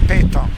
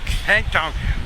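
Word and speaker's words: pétanque: Or how do you pronounce this game? Petanque. Petanque.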